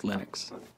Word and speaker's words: Linux: linus and i really don't care how people pronounce my name but linux is always linux he developed a kernel and got it working